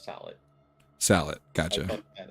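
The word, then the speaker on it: sallet: It's actually pronounced salad.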